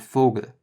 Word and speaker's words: Vogel: The V, or V, is pronounced like an F in German. Vater, which is father, and Vogel, which is bird.